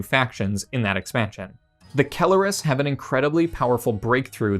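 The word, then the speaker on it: Keleres: Now, we have the Council Kelleris, or as I used to pronounce them, I guess wrongly, Council Calleris.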